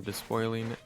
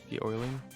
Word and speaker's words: despoiling: This oil drill is taking a break from despoiling the earth. De-oiling?